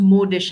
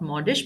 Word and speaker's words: modish: It's pronounced modish actually and not modish because it comes from the word mode.